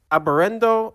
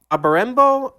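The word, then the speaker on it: Abarenbō: He composed music for the TV drama Aberendo. Oh, sorry. I'm screwing that pronunciation up. Aberembo Shogun, which began in 1978 and continued through 2008 for over 800 episodes.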